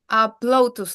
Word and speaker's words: Ploutus: is the correct way to pronounce it? Ploutus Lab.